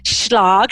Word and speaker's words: Schlag: have on the show Kim schlog and it sounds like Prague I think I said it right is that okay Kim did you did yes that was correct good job um I